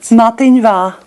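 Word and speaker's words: Madainn mhath: How would you pronounce it? Matinva. Mativa.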